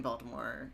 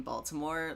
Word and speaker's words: Baltimore: Yeah, I had to learn how to say the T in Baltimore like really clearly when I lived in Germany, because otherwise people had no idea what I was saying.